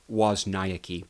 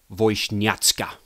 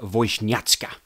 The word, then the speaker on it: Wozniacki: stated for the record how her last name is supposed to be pronounced in the Polish and this is what it is Caroline voiced at ska that's it Caroline voice new at sky and it has that kind of tone of disgust at the end you